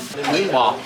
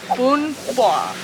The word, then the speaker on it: bò: It's called Bò, beef noodle soup. Bún Bò.